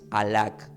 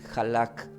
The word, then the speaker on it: halak: para llegar al padre Entonces el hebreo se pronuncia como no no escuchen Esto no es alac es halak vio que utiliz halak h a L A